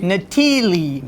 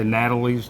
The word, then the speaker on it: Natili: restaurant well the restaurant of thiele is nathili natili the eyes in the italian are pronounced as e there you go but it's hard for people hey a lot of people say natalie's natalie whatever long as you come in as